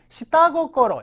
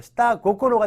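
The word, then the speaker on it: 下心: 다 기억해 주셔야 돼요 자 밑에 단어가 있는데요 시따 고꼬로 역시 연타이 돼서 코고로가 이제 마음인데 타음 붙어서 시따 고코로가 됐죠 이때시다 속마음 할 때 시다로 읽는다는 거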